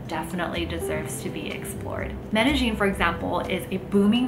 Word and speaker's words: Medellín: And yes, it is pronounced Medellín by locals, not Medellín.